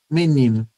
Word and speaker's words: menino: Menino, a gente pronuncia esse o final como u, né?